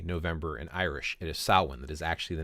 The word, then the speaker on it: Samhain: It's spelled, if you were going to read it in English, it looks like it's spelled Samhain. But if you look at the Irish language, the MH makes a W sound. That's how we get Samhain out of it.